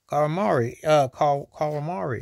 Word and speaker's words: Kawamura: Kawamura.